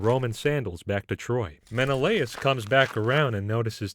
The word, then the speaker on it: Menelaus: that uh pronunciation real quick uh how to pronounce menelaus of course so it starts here with a woman named helen wife of menelaus the king of sparta and daughter of zeus